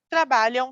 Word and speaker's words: trabalham: e televisão eles trabalham trabalham na televisão como se escreve trabalho vamos verificar aqui Aqui está certo a pronúncia é nasal mas nós escrevemos com a m trabalham correto então eles trabalham